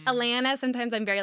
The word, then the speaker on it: Atlanta: Drop the T. Atlanta.